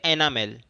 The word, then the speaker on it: enamel: तो एनामेल को नाम सुन के कोई कैरामेल की याद मत कर लेना, क्योंकि दोनों बहुत ही राइमिंग वर्ड्स है, बहुत लोग मिस प्रोनाउंस कर जाते हैं। ये है एनामेल।